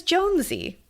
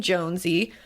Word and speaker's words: Jonesy: My name is Jonesy. They them pronouns, please. And it's pronounced like the last name Jonesy. Jones with an E sound at the end.